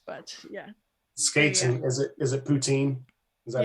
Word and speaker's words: poutine: And is it poutine?